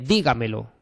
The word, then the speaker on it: dígamelo: es eh aquellas en las que el acento o la intensidad recae en cualquier sílaba anterior a la antepenúltima. Por ejemplo, eh dígamelo. Dígamelo. Entonces tenemos dígamelo y la tónica está aquí, ¿vale?